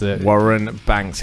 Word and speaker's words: Warren Banks: Warren Banks is how it's pronounced. Yes, Warren Banks. No Z's in there anywhere, Tim Lee.